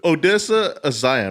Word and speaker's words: Odessa Zion: Odessa Zion, right? That's how you say it? Odessa Yes, Zion yes.